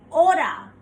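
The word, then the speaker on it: hora: a is pronounced as aura the H remains silent the alphabet a is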